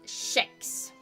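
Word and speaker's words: kex: It's spelled k e x and it is pronounced shex.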